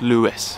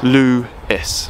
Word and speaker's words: Lewes: Alright then, welcome to Lewes. Or Lewes, but I actually believe it is pronounced Lewes. Lewes.